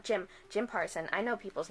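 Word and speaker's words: Jim Parsons: Or buy the audiobook, because there's a huge cast, including James Parson from Big Bang Theory. I said his name wrong. Jim Parson.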